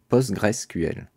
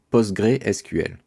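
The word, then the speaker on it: PostgreSQL: dans ce cours est post graisse QL certains prononcent post-graisse d'autres posts ou en extension postuelle ou post gré SQL pose graisse QL est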